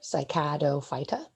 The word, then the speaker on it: Cycadophyta: the common name so uh the way you pronounce that is on the bottom here cycado phyta remember when you see that ending phyta you